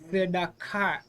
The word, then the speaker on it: tzedakah: And this is an example, by the way, and pronounced correctly, of the shva being vocalized. And the reason the shva is vocalized is because it's under the first letter of the word.